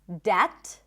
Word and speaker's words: debt: But we also don't have a B sound in the words debt, even though there is a B, it's not debt, doubt, can you hear it?